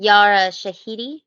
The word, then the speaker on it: Yara Shahidi: tinkerbell what's how do you say our name yara shahidi yeah um because she's great i feel that